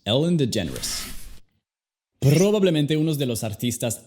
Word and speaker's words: DeGeneres: Su apellido es bastante raro y suena más como si fuera la palabra generous, generoso en inglés. La G no es como en español. Es J. A veces es igual que la J. J. Generous. La parte del final se ve difícil, pero es simple. Solamente di Rus, como en las palabras pretentious, fabulous, delicious. Ellen DeGeneres.